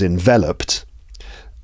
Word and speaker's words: enveloped: Also, enveloped, this is one of those ed ending verbs in the past form. There's so many of these, but this one's got a t sound.